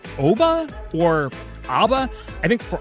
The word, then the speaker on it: OBBBA: And is the acronym pronounced OBBA or ABBA? I think for our purposes, we're going to go with ABBA.